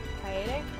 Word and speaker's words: Kaede: I thought there wasn't any other way to pronounce Kaede. Kaede. Kaede?